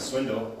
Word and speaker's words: Swindoll: I guess he pronounced it Swindle. I didn't know that until he introduced himself.